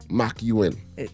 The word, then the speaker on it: McEwen: pronounce your name so my last name is McEwen macuin it doesn't you don't spell it how you pronounce it but yeah yeah put